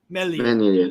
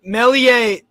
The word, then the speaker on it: Meslier: I struggle to pronounce his name, so apologies. Meslier.